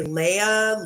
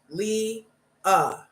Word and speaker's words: Leah: get names right like my real name is Leah and some people just can they'll say Leia Leo La they just I'm like come on dude it's two syllables Lee uh and they will be